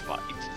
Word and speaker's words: Weiss: I do notice some people say Vice and some people say Weiss. It's Vice. It's Vice. Just going with Vice because that's the correct way to say it.